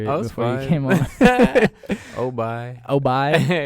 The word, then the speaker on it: O'bi: Yo, this is Cam Obi, and you're listening to Ambiance podcast.